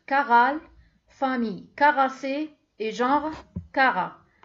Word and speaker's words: Chara: Le règne planta, l'embranchement chlorophycophyte, classe Carophyceae, ordre Caral, famille Caracée et genre Cara. Bien sûr, on écrit avec un CH, mais on prononce K et non Ché, non Chara, Cara.